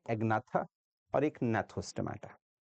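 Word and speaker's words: Gnathostomata: और जो नैथोस्टोमाटा, इसमें जी साइलेंट है, इसमें फिर आपके पास पाइसेस आएंगे, और पाइसेस एक सुपर क्लास है, ये सुपर क्लास है, ठीक है?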